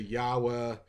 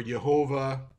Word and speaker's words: Yahweh: we know it's Yeshua the father's name Yahweh because of the no vowels being written there there is argument whether it's Yahweh or some would say yahwah even Yahweh I would give some wiggle room to um or yehovah there's arguments there but yes Yeshua there's